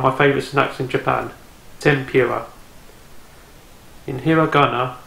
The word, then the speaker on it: tempura: from someone on my favorite snacks in Japan tempura in hiragana it's actually written as tenpura te n P you are a BOTS is pronounced tempura tempura and also do you member film a few